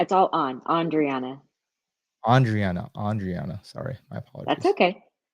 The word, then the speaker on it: Andriana: Andriana.